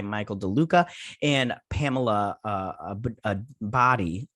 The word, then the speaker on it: Abdy: be replaced by michael deluca and pamela uh a body a body yeah that's how you say her name uh